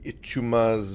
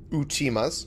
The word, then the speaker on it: Uchima: Throw in the Azaki, the Ichuma's Mirror, Uchima's, rather. Uchima, not Ichuma. That was wrong. Wrong entirely. I just transposed the I and U over each other, basically, with that pronunciation.